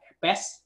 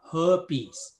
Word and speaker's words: herpes: ở Việt Nam thì mình đọc là herpes. Herpes đó là cái phát âm của người Pháp, trong khi cái Mỹ thì nó phát âm là herpes.